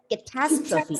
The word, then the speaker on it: catastrophe: have learned catastrophe catastrophe yes the stress is on the second syllable and you have to pronounce this word as catastrophe and what do you